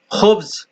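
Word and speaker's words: خبز: হয় খুব তবে আসল কেউ খাবাসও বলে কেউ খুবও বলে খুব উচ্চারণ সঠিক ব্রেড ব্রেড ব্রেড ইংরেজি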